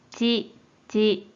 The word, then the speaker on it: 遅: 로 있고, 한편 음으로는 ち、ち。 라고 짧게 발음해줘요.